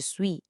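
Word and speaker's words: suis: Um detalhe importante na pronúncia, esse s no final de sui é mudo, a gente não fala, então fica jessui.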